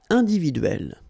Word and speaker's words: individuelle: So remember when you get this and then double consonant, and especially here it's the same one, that's the idea. It will open the sound of so you will pronounce it like é. Okay, individuel, okay, une maison individuelle.